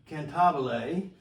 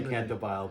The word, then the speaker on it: Cantabile: So I started with Cantabile, as Brad told me I am to pronounce it. I like to say Cantabile, but if Brad's watching this, he'll send me an email.